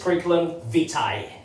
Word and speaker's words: curriculum vitae: long i i okay so the curriculum vitae that we've been mispronouncing allah is actually pronounced alright so it's pronounced when it's plural okay if and only if it's plural it's curriculum vitae there you go of course when it's singular it's a vita or a vita all right now let's check